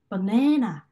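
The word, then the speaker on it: banana: 바네나 이렇게 네 부분 중간 부분만 좀 더 힘이 더 세게 가겠죠. 그래서 바네나 이런 식으로 네 부분에 더 강세가 가겠구나라는 걸 이해할 수가 있습니다.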